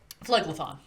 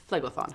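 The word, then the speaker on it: Phlegethon: sorry not sorry i don't remember how to pronounce the the level of hell that you're from floydlathon flegathon thank you so the the the door opens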